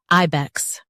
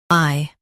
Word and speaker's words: ibex: I-bex, IBEX. Emphasize I and keep bex quick. I-bex, IBEX.